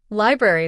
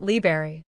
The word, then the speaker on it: library: Library. This is another case of a disappearing syllable, similar to jewelry. Many of us, in the rush of everyday speech, drop the first R sound, making it library.